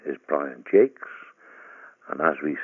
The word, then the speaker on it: Jacques: Hello, my name is Brian Jakes. When I go to America, people fondly call me Mr. Jacques or Jacques, or even people who think they can speak French say, hey, it's pronounced Jock. Down by the Mexican border, it sounds rather nice. It's Mr. Haquet. It's an old French name, Jakes, Jacqueus.